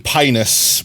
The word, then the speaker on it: Pinus: The I is even pronounced with a long e sound. M. Pinus.